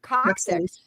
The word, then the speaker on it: coxswain: Not coxswain, coxswain, coxswain.